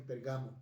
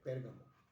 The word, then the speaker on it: Pérgamo: Muchos dicen Pergamo, no es Pérgamo, es Pérgamo. Pérgamo. Con acento en la E, Pérgamo.